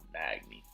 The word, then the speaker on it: Magny: And with the next fight, you got Johnny Hendrick versus Neil Magny. That's how you pronounce it. Magny.